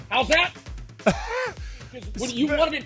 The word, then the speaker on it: Howzat: The word is how's that? It's an Aussie word. How's that? I'm about to give you a little bit of reference here. Okay. It's spelled HOWZAT, and I can already